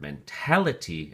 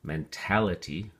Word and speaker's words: mentality: Okay, so mental, adjective, mentally, your adverb, mentality, and notice the emphasis changes for the noun onto the second syllable, mentality, for the noun form.